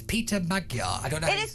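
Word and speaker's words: Péter Magyar: It's Peter Magyar. I don't know. It is Peter Magyar.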